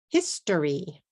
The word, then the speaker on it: history: How about this one? History, history, history. 3 syllables.